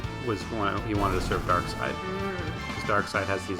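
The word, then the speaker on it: Darkseid: Dark side. Superman villain. It's spelled differently. Dark seed. Oh, it's still pronounced dark side, but it's s e i d.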